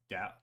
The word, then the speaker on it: Dow: So it's not dough, it's dow.